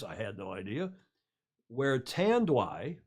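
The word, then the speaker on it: Tanduay: had no idea where tan dwigh i checked with a filipino friend this morning to see how to pronounce that yeah tan do i is the largest producer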